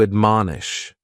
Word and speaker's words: admonish: The first word is to admonish, and admonish has 3 syllables, and the stress is on that second syllable, mon. Admonish, and this is a